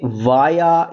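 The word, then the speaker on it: via: अब ये वाया या फिर विया, दोनों प्रोनाउंसिएशन ठीक है, सुनने को मिलती हैं। वाया भी सुन लेते हैं हम और विया भी हम सुन लेते हैं इंटरव्यूज के अंदर।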